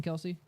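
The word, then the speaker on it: Kelce: to go talk to Kels uh uh Jason Kelsey oh well so yeah funny enough you know the the way they actually pronounce her last name is Kels that was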